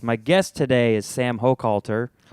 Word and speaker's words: Hochhalter: My guest today is Sam Hokalter. Hello. I pronounced that correctly. Yeah, you you pronounced it perfectly. Somebody said the other night at the show they called you Holter.